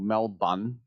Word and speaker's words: Melbourne: and he traveled back to Melbourne, don't pronounce the R, in Australia because he does play for the Australian national team.